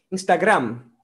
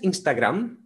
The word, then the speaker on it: Instagram: muy conocida en inglés la pronuncia original es instagram pero en español la llaman instagram tienes instagram instagram con la m muy bien marcada instagram en la próxima